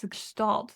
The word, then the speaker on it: Gestalt: Gestalt. That sounds almost German. It is. It's a German word.